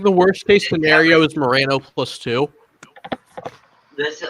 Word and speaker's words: Moreno: get senator Bernie Morino because you have to say it right you can't say Marino because that's not the proper Hispanic pronunciation you have to say it Moreno to please them just